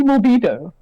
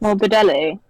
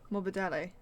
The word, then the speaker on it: Morbidelli: I said Frankie Morbido. How is it pronounced? Morbidelli. Morbidelli. Franco Morbidelli.